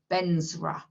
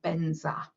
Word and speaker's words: vajra: of their alphabet that it comes out as a birth sound so vantra turns into benzera or benza but that is what